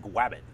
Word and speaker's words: Gwabbit: founder and ceo of grab it so i'm hoping and that is with a w so i'm not just mispronouncing it like elmer fudd it is grabbing it